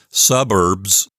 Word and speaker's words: suburbs: also suburban and suburbs notice how in the word suburbs that English word the B and the S the end were both voiced but in Latin as I explained a moment ago I think they would be voiceless so little bit of